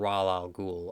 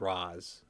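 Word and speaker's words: Ra's: we pronounce something so in my mind it's always been al ghul i realize it's raz and occasionally i'll i'll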